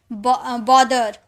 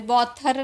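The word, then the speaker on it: bother: और कभी-कभी टी एच को द में भी साउंड निकालते हैं। जैसे द टी एच ई द बी आर ओ टी एच ई आर ब्रदर। ब्रथर नहीं थ नहीं निकालते। ठीक है? बोदर बोदर बोलते बोथर नहीं बोलते फादर बोलते हैं फादर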